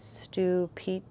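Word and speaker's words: Stupice: And this one how it says it's pronounced is stupic.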